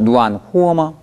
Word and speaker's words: 暖和: 暖和吗?暖和吗?후어?후어?후어?후할 때 후가 입술에서 나면 안 되죠. 흐 발음은 목에서 나야 됩니다.